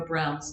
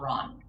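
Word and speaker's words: Braun: wrote this play that you pronounce eva brown's name brown not ron in german it would be brown so eva brown is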